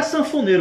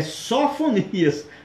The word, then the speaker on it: Sofonias: Não é sanfoneiro, gente, é Sofonias, tá ok?